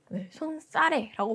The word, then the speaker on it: 손사래: 받침 이거 지금 발음까지 나와 있는 거 보면 발음도 기억해 줘라라는 거예요. 얘 같은 경우는 뭐냐면요. 사이시옷이 첨가된 거예요. 그러니까 사이시옷 현상이죠. 엄밀히 말하면. 근데 뒤에가 된소리로 나는 사이시옷 현상인 거예요. 그래서 얘는 지금 이게 고유어이기 때문에 손사래라고 발음을 해야 된다.